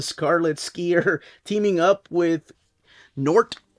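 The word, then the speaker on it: G'nort: skier teaming up with nort or some people call him Gort like my brother but I think it's nort the g is silent and it's It's the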